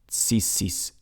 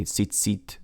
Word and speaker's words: tzitzit: All right, and then also they say like tzitzis, like when they say tzitzit, like the tassels that religious Jews wear.